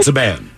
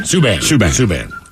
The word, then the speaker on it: Subban: Or is it Saban? Last name, how do you pronounce it? Subban? Subban.